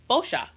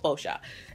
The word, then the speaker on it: Boscia: figured out that this brand, the way you pronounce it, is Boscia. I know, right? In my last video, I was saying stuff like Boscia and all this different stuff, but it's real simple, Boscia.